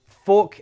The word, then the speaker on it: fork: There are two distinct sounds you need to practice. Or, it's that same sound in walk, more, door. And this is that sound again, like in bum. Look how the mouth shape is different for both.